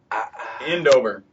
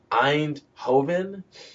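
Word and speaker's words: Eindhoven: pictures of the city that he lives in endover endover really yeah or Andover e i n d h o v n because I was goingon to be like Ein Hoven uh I don't pronounce I don't pronounce European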